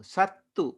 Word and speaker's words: sattu: Sattu is enemy. So Satunang is Chatti Vibhati Bahuvachana. And remember the difference between Sattu and Sattha.